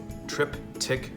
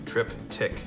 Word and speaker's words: triptych: to do a triptych trip tick project it's it's actually one word but it's pronounced like it's got two trip tick project um and we